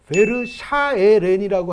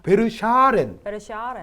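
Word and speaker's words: Verschaeren: 왜 그러냐면 이 선수가 이제 잘못하면 베르샤에렌이라고 할 가능성이 있어요. 베르샤렌. 샤에렌이 아니라 샤렌.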